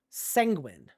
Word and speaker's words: sanguine: No, he said say penguin with an S. What? The P is silent. Sanguine.